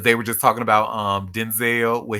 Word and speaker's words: Denzel: Like, because they were just talking about Denzel, where his name is pronounced Denzel instead of Denzel, but And too bad black people are he going to will call him always.